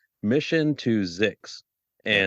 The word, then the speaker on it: Zyxx: And when we started considering this topic, the first podcast I thought of was a podcast called Mission to Zix. Yeah. And Zix is spelled ZYXX.